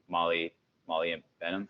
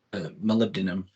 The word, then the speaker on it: molybdenum: any binders that are specific for copper besides molybdenum. How do I pronounce that again? That mineral? Molybdenum.